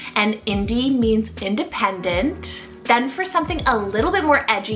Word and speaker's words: Indie: means this girl filled with life in these i-n-d-i-e Indie this one is so sweet you can have multitude of different kind of endings you know end with the i i e or even Y and Indie means independent then for something a little bit